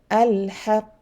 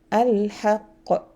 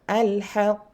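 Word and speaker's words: الحق: I have to stay a bit before releasing the letter. Okay, if there was no shadda, I will pronounce this way. Al-haqq. Okay, all al-hajj. Okay, you see, no qalqal, no, I mean shadda, I pronounce quickly. But because there's a shadda, al-hajj or al-haqq.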